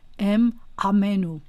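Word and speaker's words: אם עמנו: Actually, it would be pronounced like this: em amenu, because there's an ayin, and ayin is pronounced differently than aleph.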